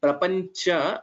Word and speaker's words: प्रपञ्च: So Bha is Mahaprana and Prapancha, it is Cha and not Ja. Maybe I heard it as Prapancha, so it was not clear pronunciation of Chakara.